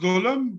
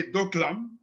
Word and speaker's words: Doklam: area of golem plateau it's pronounced dholam though many people say doklam in western bhutan the